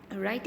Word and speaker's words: write: It means it is silent. Write an essay about your best friend.